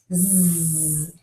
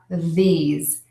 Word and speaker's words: these: z sound Z and I'll hear Z not these Z's these so what's the difference here you're probably catching on the mistake is that my tongue is inside of my mouth the good news is the air is continuing to move out of my mouth but I need to stick my tongue out these Z and these